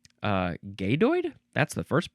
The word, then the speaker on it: gadoid: G A D O I D. Uh, gaydoid. That's the first pronunciation here.